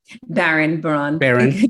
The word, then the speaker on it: Baran: But if you have a chance to go sit in front of your computer and go to Elisa Baran, did I pronounce that correctly? Baran.